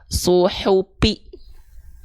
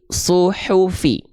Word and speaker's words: suhuf: Ya, jangan sampai dibaca suhupi tapi suhufi.